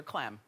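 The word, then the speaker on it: Clem: involving Hulk Hogan and Heather CLM which rhymes with fem Heather CLM is the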